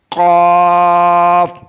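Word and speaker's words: قاف: Qaf is pronounced from the root of the tongue and the soft palate.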